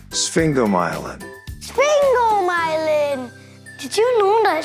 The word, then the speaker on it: sphingomyelin: out challenging isn't it this is how you pronounce it sphinx go myelin sphingomyelin sphingomyelin did you know